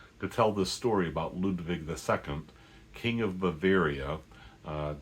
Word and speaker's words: Ludwig: to be talking about Luchino Visconti's Ludwig or Ludwig if you want to be faithful to the original German pronunciation.